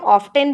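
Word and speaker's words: often: यहाँ पर लिखा हुआ है ऑफन, इसको हम ऑफन पढ़ते हैं। इसको वैसे तो हम ऑफ्टन भी बोलते हैं अमेरिकन एक्सेंट में, बट हम ब्रिटिश वाला फॉलो करते हैं, सो हम इसे बोलेंगे ऑफन।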